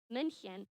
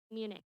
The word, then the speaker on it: München: They invited their royal subjects to attend these festivities in the city where they got married, München, or as we Americans pronounce it, Munich.